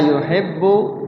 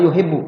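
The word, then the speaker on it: يُحِبُّ: nah nah di situ ba bertasdid lagi tuh ba bertasdid di situ yuhibbu bnya bertasdid engakasid tandanya bnya ada dua cara bacanya di banya itu ditahan habba yuhibbu yuhibu jangan yuhibu yuhibu yuhibu jangan ditan dulu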